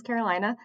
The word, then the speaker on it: Carolina: yeah my name is Carolina uh yes pronounced like North or South no not named for